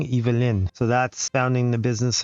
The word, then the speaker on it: Yvelines: Okay, so now I know I've been saying it wrong. Yvelines.